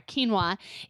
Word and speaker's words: quinoa: even is quinoa and am I saying it right yes you're yes you are quinoa it's a whole grain